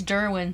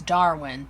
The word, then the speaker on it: Darwin: him evolution class charles durwin said man must spread his seed to survive ergo hair grow one of the classic spinner mispronunciations and jimmy says dude it's darwin there is no doran spinner tells him he